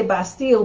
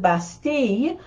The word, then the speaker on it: Bastille: the bastille the bastille well we say bastille but they would pronounce it basti it was you know